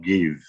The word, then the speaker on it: give: Contoh give, tidak dibaca J.